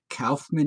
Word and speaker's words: Kaufman: If you're from the rest of the country, it's Kaufman. Since more people speak with a New York accent than any other specific accent, by plurality, Kaufman is the correct pronunciation and the rest of the country is wrong.